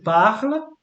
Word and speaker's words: parle: So the pronunciation of this will be je parle. So you don't pronounce this.